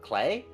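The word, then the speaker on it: Klee: like for example CLE the proper pronunciation for the way it's spelled is a German word clay and that's the German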